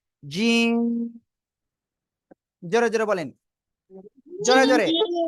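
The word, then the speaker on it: جيم: শক্ত আওয়াজে উচ্চারণ হবে জিহ্বার মধ্যখান তার বরাবর উপরে তালুর সঙ্গে লাগিয়ে উচ্চারণ করবেন জিম জোরে জোরে বলেন জোরে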